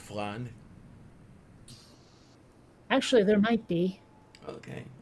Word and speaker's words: flan: pronounced flan, you silly muppet. Meow. Ask someone who speaks Spanish as their native language. They will tell you it's flan, Not floored. Yeah. not flan. That's how British people say it for some reason.